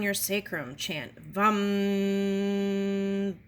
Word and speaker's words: vam: Chant its sound, lam, pronounce lum, lum, lum. At your sacral chakra, sound your sacrum, chant vam, bum.